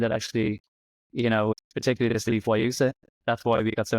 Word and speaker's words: guayusa: It's like the way we say it is like G and then Y, like Y, U, sa. So like the letter Y, the letter U, and then sa. So guayusa essentially is kind of